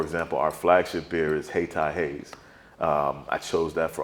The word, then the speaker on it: Hayti: black people that still never heard of Hayti or pronounce it Haiti.